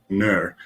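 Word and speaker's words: gnurr: and that name is nur it is spelled g-n-u-r-r not too sure why the g is silent but next time you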